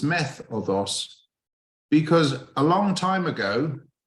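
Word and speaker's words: μέθοδος: And something's funny has happened in how that it's not met οδός, met οδός, it's meth οδός.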